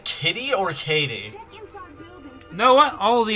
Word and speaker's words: Katie: Katie rhymes with. What's lady? Lady! And Kitty rhymes with titty, so I'm pretty sure there's a difference.